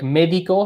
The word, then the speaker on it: médico: So like médico has an accent on that E. So we got to remember we emphasize that médico, the E in médico, we emphasize that syllable.